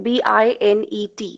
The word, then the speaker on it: Binet: actually employed at the binet institute binet spelling b-i-n-e-t it's not called binet it's t is silent binet institute in the